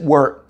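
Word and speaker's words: wort: syrup called work okay spell w-o-r-t you know we pronounce it word okay those can be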